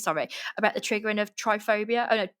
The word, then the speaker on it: trypophobia: in the news summary about the triggering of trypophobia oh no how do you say it try